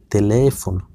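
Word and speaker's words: teléfono: তারপর টেলিফোনতে দ্বিতীয় ইটার উপর তিলদে দেখা যাচ্ছে এটার উচ্চারণ হবে তেলেফোন।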